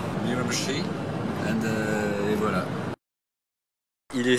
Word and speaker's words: Miramichi: Miramichi, this is the pronunciation. Miramichi, et voilà.